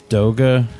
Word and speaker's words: Doga: enjoy the show so is it Doga or dog it's toga yep yeah because you want to pronounce it like yoga real technical about it